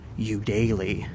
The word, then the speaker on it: Eudaly: These people, that's the third Chloe Eudaly, apparently is how you pronounce her name.